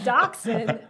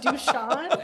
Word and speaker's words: dachshund: Randy because you wouldn't pronounce dachshund. You said Dushan. Yeah, it's spelled dash hound.